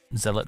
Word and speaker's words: zealot: way towards it's what he's going to do zealot not z-lock i don't all right all right you're doing it you're making me go to wikipedia howdy how how is it supposed to be pronounced in wiktionary pronunciation audio uk all right fine i'll accept that then i just called it z lots in my head and yeah you're probably right i guess it is zealots it's the english language